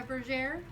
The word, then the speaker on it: bergère: this is a more traditional picture of a bergère.